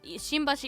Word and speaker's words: Shimbashi: You couldn't say like it's easier to say it's easier to close your mouth completely following your following into the B sound. Um I've seen Shima. Yeah, Shimbashi is spelled with an